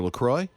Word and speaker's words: LaCroix: i'm going to say this right sparkling water lacroix yes did i say it right mm-hmm okay